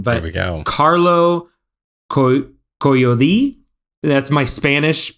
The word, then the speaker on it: Collodi: Carlo Collodi. That's my Spanish pronunciation. Oh, I would of have done a Italian last very name. American Collodi. version of that. I would have done Collodi.